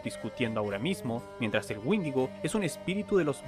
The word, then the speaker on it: Wendigo: Teniendo en cuenta la común pronunciación del inglés, donde Wendigo se pronuncia Windigo, no me sorprendería que estos dos seres se confundieran tan fácilmente.